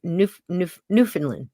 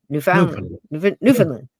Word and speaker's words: Newfoundland: I always say it wrong. Newfoundland. Newfoundland. Got to say it fast.